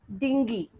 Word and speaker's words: dinghy: Yacht and dinghy. Dinghy, it's pronounced as dinghy because the word dingy is D-I-N-G-Y, and those two words are two different things. D-I-N-G-H-Y, dinghy, means a small boat.